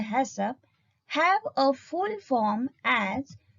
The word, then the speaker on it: HACCP: about principles of hassan haccp usually pronounced as a hassop have a full form